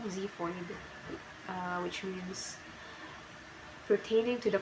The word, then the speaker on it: xiphoid: X, pronunciation Z, example xiphoid, which means pertaining to the cartilage attached to the sternum.